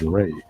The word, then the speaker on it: Ra: of life and growth which is pronounced as ray as in the rays of the sun.